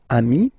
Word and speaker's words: amis: Even if you get to write the S, then you don't pronounce it.